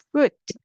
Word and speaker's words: fruit: fruit, 길게 하시면 됩니다. fruit, fruit, 열매예요.